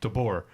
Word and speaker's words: DeBoer: Is it DeBoer? That is how you pronounce his last name? Correct? DeBoer, yeah. Okay, DeBoer, because nobody wants the job after the guy.